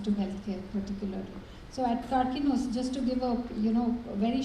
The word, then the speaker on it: Karkinos: Yeah, but I pronounced Karkinos rightly. Yes, Okay. you did.